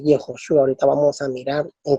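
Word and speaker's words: יְהוֹשֻׁעַ: Pues aquí en el sustantivo en hebreo tenemos la palabra Yeshua, que este es una pronunciación tardía del nombre de Jesús en hebreo, que es Yehoshua.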